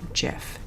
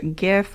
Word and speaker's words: GIF: There is an ongoing debate as to whether or not this is pronounced GIF or GIF. Some people feel the need to correct me because it is a graphics interchange format. It should have a hard G sound instead of the J sound.